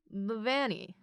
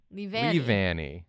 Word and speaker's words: Leavanny: I'm gonna pronounce this wrong, Yeah. but Yeah. this Pokemon I have for you is Levani. Levani? Leavanny.